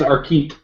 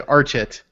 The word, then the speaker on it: Archit: You mean Archit? Apparently it's Arkeet. Arkeet. Okay, I would have just said Archit.